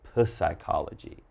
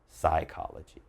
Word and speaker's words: psychology: Again, not psychology, just psychology.